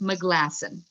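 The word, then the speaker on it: Maglasson: It's pronounced McGlasson, just so you know. McGlasson. Thank you. You're welcome. McGlasson sounds like a good Scottish name or Irish.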